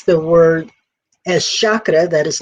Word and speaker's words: chakra: So the correct pronunciation is chakra with a hard CH and not chakra.